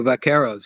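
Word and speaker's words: vaqueros: I had forgotten that it was the is the term what's the pronunciation of the is it vakeros? The vakeros.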